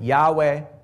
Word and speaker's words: Yahweh: Some Christian communities pronounce it Yahweh, right, or Jehovah.